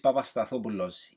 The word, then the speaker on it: Papastathopoulos: Number 1, Socrates Papastathopoulos. Yep, that's how you pronounce it.